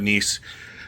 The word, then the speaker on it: Niis: If you haven't checked out Nice, check out Nice. It's spelled Niis, so that way you know how to spell it.